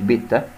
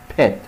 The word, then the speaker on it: pet: هنا نخلي بالنا من نطق حرف البي، بي بيت بيت، البي تملى بقك كده هوا وتطلعه كده مرة واحدة pet pet مش بيتا، pet حيوان أليف جمعها pets.